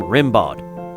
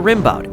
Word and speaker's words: Rimbaud: It also reminded him of the way some people pronounced the name Rimbaud, a French poet he had been studying.